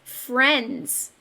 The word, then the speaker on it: friends: We see IE in the middle. That's a vowel team, but it's making a short E sound.